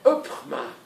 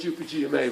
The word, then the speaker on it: UPGMA: use these UPGMA, and you can imagine how a Dutch would pronounce this, with the full G sounds, of course. Upma. Most horrible sounding phrase I've ever heard. It happens. So please call it UPGMA when I'm in the area, okay?